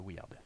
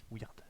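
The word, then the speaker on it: Wyrd: Écoute, toutes les routes qui mènent à cet endroit sont envahies par le Weird.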